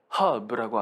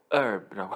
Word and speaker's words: herb: 그리고 미국 애들은 이거 H 발음을 안 해요. Hub라고 안 하고 herb라고 합니다.